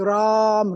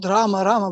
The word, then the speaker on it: Rama: ramachandra they also chanting ram ram like Hanan also chant ram ram no not raama but ra so what you can